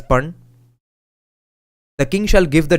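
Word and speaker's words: pana: daily wage of one Panna p-a-n-l it's pronounced as pun the king shall give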